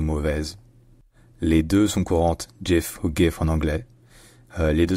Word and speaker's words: GIF: N pas comme français c'est Jef donc avec un J déjà et avec un I qui est un i court et non un i long qui est très différent du I français qui se prononce plus plus proche d'un e que d'un i en réalité je vais